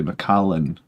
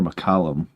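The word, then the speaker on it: Macallan: A lot of people in America call it they don't pronounce it correctly. I think they say Macallen. I think it's more Macallum.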